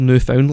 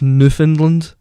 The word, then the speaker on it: Newfoundland: also by the way it's not actually called new phone is Newfoundland Newfoundland Newfoundland Kniffin didn't